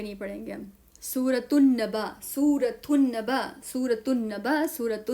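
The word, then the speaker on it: سورة النبأ: सूरतु नबा लाम साइलेंट लिखेंगे तो लिखेंगे लेकिन पढ़ेंगे नहीं।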